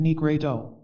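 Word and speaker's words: nigredo: the work of blackening the nigru pronounced negredo the work of widening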